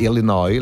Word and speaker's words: Illinois: Illinois giusto chicagoo Illinois Anzi Illinois la s finale non si pronuncia e si dice Chicago